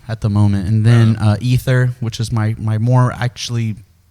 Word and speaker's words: Aether: That's active at the moment, and then Ether, which is my more actually, I don't know.